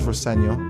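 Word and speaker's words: Rosenior: My dad says Roseno, which is is the way to pronounce it.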